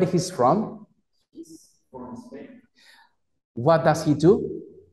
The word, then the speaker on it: Spain: No es Spain. Ojo, lo pronunciaste bien, Anthony, pero la idea es suavizar un poco más la S. Spain.